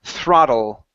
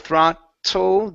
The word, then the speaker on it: throttle: is going to be throttle throttle throttle throttle instead of throtle give me a give me a flap te here so it's D throttle